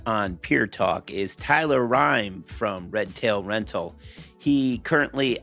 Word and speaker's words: Reim: Only I can never pronounce his last name properly, but it's Reim, correct, Tyler? Yes, Tyler Reim.